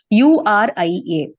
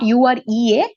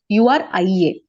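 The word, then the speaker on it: -uria: Whereas if it is urea, if it is present in urine, then we call it as URIA. Not UREA, URIA.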